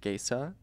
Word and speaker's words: Gaca: queer people but like my last name is pronounced gaysa and so be like